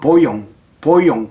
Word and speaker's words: voyant: 불어는 VOYANT 이렇게 쓰고 발음은 보용 이렇게 하는데요.